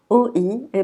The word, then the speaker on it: oie: OI, OI est prononcé wa, wa. Donc ce mot, c'est une oie.